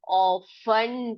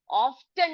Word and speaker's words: often: Underline कर दीजिए इसको, टी साइलेंट है। तो जब भी आप इस तरह का एक वर्ड देखोगे तो आप उसको ऑफ्टन ना पढ़कर ऑफन करके पढ़ेंगे।